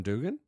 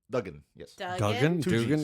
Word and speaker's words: Duggan: him you mean hacksaw jim dugan duggan i'm sorry two g's i spelled it wrong i said it wrong but i meant the